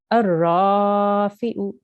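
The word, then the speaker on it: الرافع: There is a lam, but there is no stroke on the lam and there is no a sign on the lam. So there is no sukoon, there's no shadda. So we don't pronounce this lam. It's just a blank lam. Okay. So we join the alif directly to the ra.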